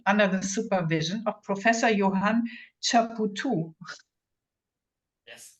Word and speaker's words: Johann Chapoutot: University of Paris-Sorbonne under the supervision of Professor Johann Chapoutot. Yes, pronounced correctly.